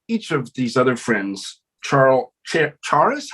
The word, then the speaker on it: Charis: Charis, how would you pronounce that? Charis. I think it's Caris, like the Welsh.